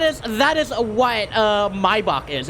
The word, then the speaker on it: Maybach: I need to remember the way that you pronounce it is mybach not Maybach mybach wasn't mybach a